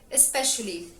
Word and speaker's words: especially: I use the word especially. The word especially is an adverb. And it has a soft E sound when you pronounce it like this.